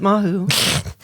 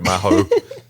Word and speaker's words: Mahou: It's been so long that I forgot you pronounce it Mahou. Sorry, Mahou.